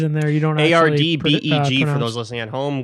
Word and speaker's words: Ardbeg: It's Ardbeg. Ardbeg. It's probably like fucking Scottish, man. Like, who the fuck knows? Yeah, there's probably a couple letters in there you don't actually A-R-D-B-E-G for those listening at home.